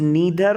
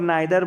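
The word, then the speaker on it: neither: वी कैन यूज़ नीदर और नाइदर, both pronunciation are correct. ठीक है, अगर कोई इसको नीदर पढ़ता है या नाइदर पढ़ता है तो दोनों ही सही हैं जी, पहली बात।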